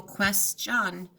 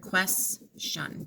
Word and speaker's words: question: want to keep beat it would be tempting to go quest John but we're gonna keep that shun together quests shun the question two syllables stay shun last state